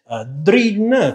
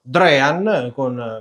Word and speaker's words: Drean: Molti, anche su altri video, ho sentito che lo chiamano Dream Commodore 64, forse per l'assonanza con la parola in inglese sognare, quindi Dream, ma a mio parere, essendo la Drean un'azienda argentina, è più corretto pronunciare proprio Drean, proprio come viene pronunciato poi nelle pubblicità che si possono trovare di questa azienda ancora esistente, ricordo.